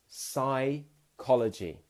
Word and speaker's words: psychology: Psychology. P-S-Y, but it's sigh.